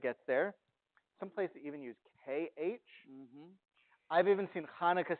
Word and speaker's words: Hanukkah: some people say no a huh does not sound like H it's more like a CH kind of sound like a stretch but it gets there I've even seen Hanukkah spelled with an X